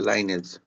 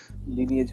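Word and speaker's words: lineage: বংশ পরম্পরায় চলে আসছে, এটা, এই শব্দটা এরকমই, যে বংশ পরম্পরায়, বংশ, এই যে লাইনেজ, লাইনেজ না লিনেজ, কোনটা হবে উচ্চারণ? লিনিয়েজ হবে স্যার। লিনেজ না, এই দেখছো, স্যার লিনিয়েজ। লিনিয়েজ, আচ্ছা, ঠিক আছে, খুশি হলাম।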